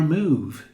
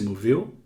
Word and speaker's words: move: Este som de U é bem longo. Move. Move. Igual quando você pronuncia comida em inglês. Food. Food. Ou bota. Boot. Boot. Diferente de bom. Good. Good. Ou então diferente de livro. Book. Book. Aqui é longo. Move.